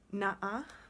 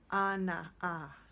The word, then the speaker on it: Ana'a: Na'a was what I thought was the pronunciation, but it's actually Ana'a for Mother Earth. Ana'a, and drawing out that at the end.